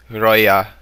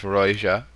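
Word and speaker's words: Rioja: Or oh, and I've also been corrected on how I'm pronouncing some of these, like Roya instead of Roja, and LL, where was it?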